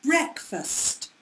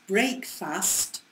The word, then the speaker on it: breakfast: which let's think about breakfast it's pronounced differently it's not pronounced break fast it's pronounced breakfast but it's spelled exactly